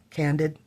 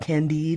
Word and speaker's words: Candid: Gold, Timeless, Far Away, Candid. I always wanted to call it Candide because that's how my mom pronounced it.